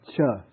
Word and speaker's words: ca: Visama cha. The C is pronounced cha.